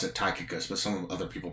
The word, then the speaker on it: Tychicus: And I pronounce it Tychicus, but some other people pronounce it differently.